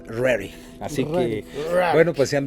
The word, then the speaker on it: Roerich: platicarles acerca de Nicolás rorick pero también como se debe pronunciar es Nicolás rarey así que bueno pues